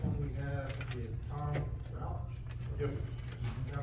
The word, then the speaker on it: Rauch: And the first one we have is Tom Rauch. Yep. Did I pronounce that right? Close enough. Thank you. Please state your name and address. Okay, I'm Tom Roush, and I live at 371 Bean Road, here in Lamar County.